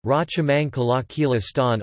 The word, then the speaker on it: ราชมังคลากีฬาสถาน: The Rajamangala National Stadium, Thai, Rachamangkala Kila Stan RTGS, Rachamangkala Kila Sathan, pronounced RA circumflex T, T, Ma, K, L,